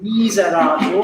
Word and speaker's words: miserator: You can aim for the third syllable. Miserator, that's the stress of the word.